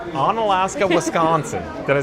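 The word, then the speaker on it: Onalaska: So, I have Rain from uh Can you pronounce this? On Alaska. On Alaska, Wisconsin.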